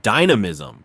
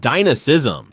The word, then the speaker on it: dynamism: One of the funniest, but also most serious talking points from this debate has been the word dynamism, or as several pundits kept pronouncing it, dynism.